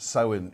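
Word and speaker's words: Samhain: yeah and it's from a Celtic festival called so in now it's spelt s am h AI n but i'm told it's pronounced so in it - hi Anthony Aaron Aaron sorry I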